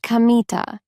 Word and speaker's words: Kamita: is kamita he said it's written with the characters for God Kami and field God's field but it isn't pronounced K as you might expect it's pronounced kamita I'll remember that the